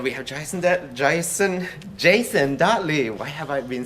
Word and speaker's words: Dottley: you're you're the the my last name has been pronounced so many ways in my life am i pronouncing it right it's the last name you get right every time it's the jason that